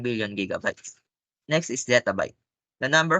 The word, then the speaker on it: gigabyte: or approximately a million bytes next gigabyte a gigabyte pronounced with two hard disks is a unit of